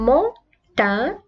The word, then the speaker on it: montagne: une montagne. بعد le G أتى N. إذا ننطق الصوت ن. نحن في هذه الحالة une montagne montagne. لا ننطق G ولا ننطق G ولكن ن une montagne.